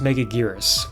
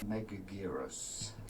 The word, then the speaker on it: Megaguirus: Up next, we have Godzilla versus Megaguirus, which I totally didn't have any trouble pronouncing right before this. Godzilla versus Megagui- Megagui- Megagui- Megagui- Probably should have looked that up beforehand. Megaguirus.